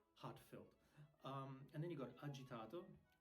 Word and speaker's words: agitato: And then you got agitato. Agitato. It's not agitado or something.